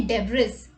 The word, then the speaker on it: debris: might be thinking debris this word has a silent letter can you find out which one okay so here the letter which is silent is s so we don't say debris it's debris right now what is debris